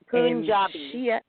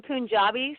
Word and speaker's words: Punjabi: Now, help me pronounce this. We said you were East Indian, but more specifically, you are Punjabi. Punjabi. Say it one more time. I'm Punjabi, so like the state in India that my